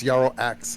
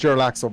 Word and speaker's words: Jarlaxle: It's Jarl Axe actually. yeah. Jarlaxe. Oh yeah. Oh, Jarl Axe? Well, it's pronounced Jarlaxle because he's Drow.